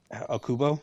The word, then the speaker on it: Okubo: You know, I did not know that the that Okubo, that's his name, right?